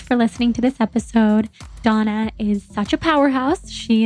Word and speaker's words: Dana: so for everybody listening her name is Donna but it's spelled like Dana and you just must get so much confusion around everybody here in the u.s.